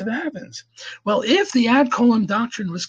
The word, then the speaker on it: ad coelum: ADCOELUM.